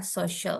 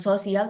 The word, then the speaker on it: social: Pakai C Ya, ya, social. pakai si ya. Cara bacanya juga beda, bukan sosial tapi social.